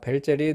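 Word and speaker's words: Welzel: 나타냅니다 w인데 별자리인 것은 자 벨젤이 독일 사람이죠 독일에서는 w가 비읍 발음이죠 그래서 벨제l 자 그리고 이것은 귤과 호랑이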